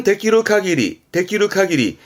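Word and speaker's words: 限り: 문법도 많이 보이고 꼭 기억해 두세요 명사화 시켜서 발음은 카기리 카리라 하면 말 그대로 제한을 의미하겠죠 한계 어떤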